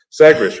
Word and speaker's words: Sagres: Sagres, right? Sagres?